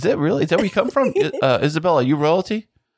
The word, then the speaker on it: Isabella: It's Isabella, not Isabel. I mean, I feel like that extra syllable is a lot to ask of people, so I'm pretty neutral about it.